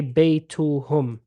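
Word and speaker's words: بَيْتُهُمْ: But if we sort of say their house, we say baytuhum. Agreed? Yeah. Mm. We say baytuhum. We pronounce it hum.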